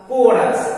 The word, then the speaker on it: chorus: उसी तरह CHORUS है तो C के बाद है तो इसका उच्चारण होगा कोरस, H साइलेंट होगा।